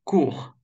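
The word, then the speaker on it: cours: Кур. Кур, ну, так и переводится, курсы. Кур. Кур. Видите, опять S не читается.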